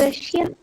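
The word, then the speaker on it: Russia: देखो रशिया होता है कि रशा होता है, बताओ। रशिया। नो नो no, pronunciation is रशा, ठीक है। ये भी मुझे किसी ने बताया था, मेरे इंग्लिश टीचर ने।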